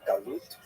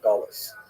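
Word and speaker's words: גלות: neutral connotation, but the word exile in Hebrew, galut, or in a Ashkanazi pronunciation, gulus, uh that Jews were thrown out of their land.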